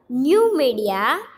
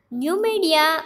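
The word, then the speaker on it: Numidia: going to learn next slide and it's a new media new media is now algeria so here new media is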